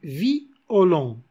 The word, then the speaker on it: violon: s'il a par exemple au lieu de dire violon andy vie olemps vie olemps violon violon par exemple le mot